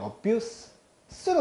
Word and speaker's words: abuse: 명사로 쓸 때는 abuse로 말씀하셔야 되고요. 동사로 쓸 때는 abuse로 말씀하셔야 됩니다.